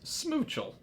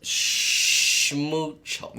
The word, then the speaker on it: Schmoochle: If you know, Brintnall Lori wants to know, how do you pronounce Schmoochle? Not like that. No. It's Schmoochle.